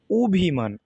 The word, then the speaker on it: অভিমান: তাহলে শব্দের প্রথমে অ, এরপরে যদি ই, রস্বই দীর্ঘ ই, রস্ব উ দীর্ঘ উ থাকলে ও, অ এর উচ্চারণ ও ধ্বনির মতো হয়।